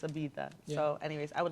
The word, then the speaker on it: Ibiza: It is Ibiza. It is Ibiza apparently. Yeah, you have to have a lisp. Yeah. Yeah, If we say it with a lisp, yeah.